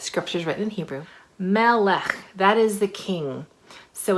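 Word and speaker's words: מלך: So in English, it's pronounced kind of like this. We see the consonants are the main ones. Melech, melech, king.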